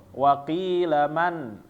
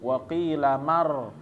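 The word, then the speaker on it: من راق: Waqilaman, seharusnya karena nun mati bertemu dengan ro, dia nyambung waqilamar. Tapi karena dia ada saktah di sini, maka bacaannya nggak nyambung ya. Jadi bacaannya waqilaman, berhenti dulu, ro tanpa naik napas, waqilaman roko.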